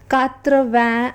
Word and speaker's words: quatre-vingts: 80, which is pronounced as quatre-vingts and is written as QURTRA VENJ ashte.